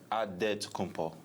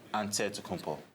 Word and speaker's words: Antetokounmpo: into the spelling of Giannis Antetokounmpo's last name. He helped set the record straight of how you pronounce it. The Nigerian way, you gotta say with a D, so it's Antetokounmpo.